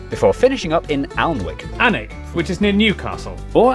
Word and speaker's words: Alnwick: Alnwick, which is near Newcastle.